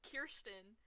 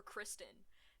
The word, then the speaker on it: Kirsten: Actually, my actual name, people always have issues, like, saying it and pronouncing it, because it's Kirsten, but it's spelled K-I-R, and so people always call me Kirsten or Kristen.